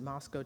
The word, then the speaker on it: Moscow: had a cotton farm with my great-grandmother in Moscow Texas as we pronounced it it's it's spelled Moscow but we pronounced it Moscow Texas deep east Texas and he used to